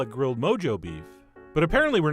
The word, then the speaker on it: Mojo: It is Mojo. So that's how I will be pronouncing it, but only for this video. In real life, I'm going to continue to say Mojo, because it really does sound so much cooler.